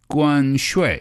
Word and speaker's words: 关税: 关税. Perfect. Again, this is 关, that's the first tone. 税 is the fourth tone.